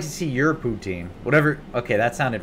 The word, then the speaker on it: poutine: doesn't sound like food am i saying it right is it poutine poutine i think you guys are messing with me now that is how you say it okay because you know